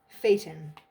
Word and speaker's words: Phaeton: with you can you phaeton i'm pretty sure that's how you say it p-h-a-e-t-o-n adopted from